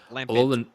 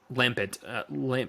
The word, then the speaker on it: Lampent: Lampent. Lampet. No, it's French, Salt. The T is silent. You didn't know that. Lampin.